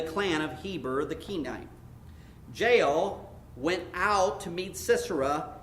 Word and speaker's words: Jael: And I listened to it, and that's how they pronounced it. Jael, the wife of Heber, the Kenite, because there were friendly relations between Jabin, king of Hazor, and the clan of Heber, the Kenite. Jael went out to meet Sisera and said to